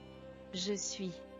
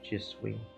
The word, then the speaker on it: je suis: So I did mispronounce that. Je suis. Je suis.